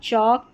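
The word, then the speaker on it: chalk: चेयर, चौक, chicken, चाइल्ड चीज़। अब यहां पर देखिए चॉक दे रखा है। एल के लास्ट में है। इसको यहां पर एल साइलेंट है।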